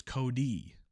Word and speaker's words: Kodai: So in Japanese, there's no such thing as short versus long vowels. Every vowel is pronounced the same way every time. I is always E, like Ichiro or Okajima. Ah. So it's Kodai.